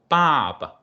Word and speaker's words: 爸爸: The second one is normally pronounced in the neutral way. So to soften the tone, Baba, Mama.